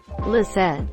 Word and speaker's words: Lisette: Lisette. It's cool that people can choose if they prefer the French, silent T, or Dutch pronunciation, and it's easy to come up with nicknames.